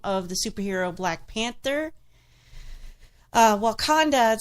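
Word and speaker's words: Wauconda: It said, Black Panther fans keep bothering the people of Wakanda, Illinois. Okay. And that's spelled W-A-U-C-O-N-D-A.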